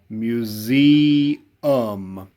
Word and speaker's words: museum: to spell it and don't forget the s sounds like a z do not spell the word with a z dinosaur one of our